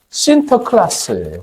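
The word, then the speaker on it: Sinterklaas: 이 사람의 네덜란드식 애칭이 뭐냐면 신터클라스예요. 신터클라스. 네덜란드식 발음으로 신터클라스. 그것이 이제 네덜란드의 어떤 기독교인들이 아메리칸 대륙으로 땅을 밟으면서 그 영국권 발음으로 바뀌어서 산타클로스가 된 거예요.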